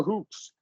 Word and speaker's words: hooks: You said he'd tie our hooks, and it's going to be latch short U. Hook, book, hook.